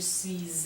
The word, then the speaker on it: suis: will happen then is we'll end up pronouncing the S on suis, and I'll make it sound like a Z. So je suis allé.